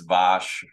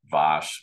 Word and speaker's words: Vass: you know I'm I I know that it's vosh you know that I'm but I and I apologize for anyone from Europe listening to this I'm not pronouncing shoe brand appropriately it's it's vosh but uh I'm gonna slip